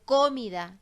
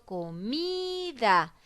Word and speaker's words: comida: comida a mí porque yo no digo comida ni digo comida digo comida entonces la mi es la sílaba tónica la que tiene mayor fuerza de voz y está ubicada de